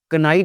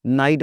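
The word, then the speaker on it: knight: तो फिर हम कनाइट नहीं बोलते जनाब, इसको नाइट बोलते हैं।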